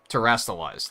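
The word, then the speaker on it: Terastallize: How are we pronouncing that? Terrestalizing? Terrestalizing? Terrastalize.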